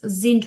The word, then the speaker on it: sind: Meine Hobbys sind Reisen, জিন্ট, Spielen, জিন্ট, হ্যাঁ, উচ্চারণটা হবে জিন্ট, জিন্ট না জিন্ট।